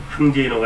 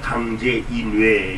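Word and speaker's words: 강재이뇌: 그러니까 항제이노가 아니라 강제이뇌. 요즘 발음으로 하면 그렇게 됩니다.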